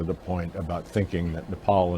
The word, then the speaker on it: Nepal: point about thinking that Nepal and Bhutan which incidentally he also mispronounced as nipple but our part of